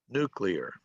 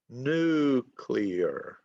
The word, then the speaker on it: nuclear: Which syllable has the emphasis? Anybody? Which syllable? Is it 1, 2, or 3? Nuclear. One. 1. Good. Okay, you're right. Nuclear.